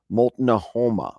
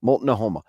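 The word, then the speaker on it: Multnomah: this M mola Moma it's hard for me to say this name because it's not e as it's written it's written a little different than it would be pronounced mol Noma mol Noma the mol Noma Maiden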